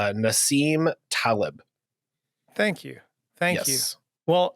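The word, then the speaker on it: Nassim Taleb: or whatever also I I was looking at pronunciations earlier just because we want to be as accurate as you can and it's Nasim Talib thank you thank you well um the concept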